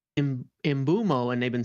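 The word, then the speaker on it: Mbeumo: on a video they're like, "Oh wait, it's imbumo."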